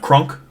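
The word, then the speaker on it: Kronk: I think they just, in their accents in the movie, they pronounce that U a bit longer. But it is Krunk. That is how it's spelled.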